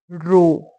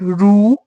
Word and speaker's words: रो: Like you put the pressure on O. Ro. It's not ru, it's ro.